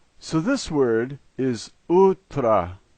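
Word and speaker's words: утра: And the last letter is an O, and here it's pronounced in its typical way, A. So this word is utra, utra.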